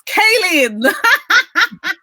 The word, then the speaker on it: Cailin: You remember yesterday I was saying I wasn't too sure how to pronounce her name, and I said, Colleen, it's Cailin.